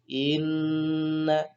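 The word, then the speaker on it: إنّ: Ketika ada nun bertasjid ya, maka suaranya harus didengungkan. Inna. Istilahnya dalam ilmu tajwid namanya bacaan gunnah gitu ya. Bacaan gunnah. Inna seperti itu. Jangan dibaca inna itu aja. Caranya bacanya harus ditekan suaranya, tekan, kemudian ditahan selama 2 ketukan ataupun 1 alif.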